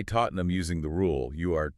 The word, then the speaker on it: Tottenham: But when it's linked to famous hightra entities like the Tottenham Football Club, we saw that massive usage pressure can reduce the final syllable entirely to numb. So if you say Tottenham using the rule, you are technically correct.